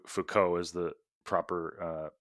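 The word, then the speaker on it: Foucault: wrong it was as you said it f Fuko is the proper uh pronunciation um well he has so many letters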